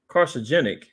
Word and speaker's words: carcinogenic: could be it's carcinogenic carcinogenic is the best is the right way to say it carcinogenic as lead exhaust